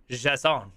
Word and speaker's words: JSON: JSON, JavaScript Object Notation, properly pronounced JSON.